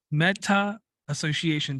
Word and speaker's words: Metta Association: Brooks comes to us from a company called meta Association did I pronounce it right yes sir you did all